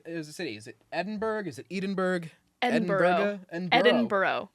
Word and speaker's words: Edinburgh: Is it Edinburgh? Is it Edinburgh? Edinburgh. Edinburgh. My brother was just telling me there's like more syllables than you think cuz it's not spelled borough. It's b u r g h.